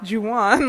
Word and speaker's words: Juwan: And I said, Juwan. He's like, I'm not going to remember that. And I'm like, it's two syllables. Juwan.